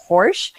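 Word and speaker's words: Horejs: have gallery owner jason horsch and he told me his last name rhymes with porsche even though it's spelled h-o-r-e-j-s go figure that one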